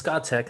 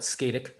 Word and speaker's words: Scatec: It's Scotech. I like how you say it. I've always called it Skatic, but they're a big time developer, global developer.